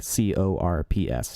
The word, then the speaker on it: Corps: one called Santa corpse-like cor PS not like a dead body so like the Santa I guess would be Santa Corps instead of course I guess that P is silent where you play a